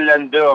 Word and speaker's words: Landau: La pronunciación correcta es Landau, Landau. Ok.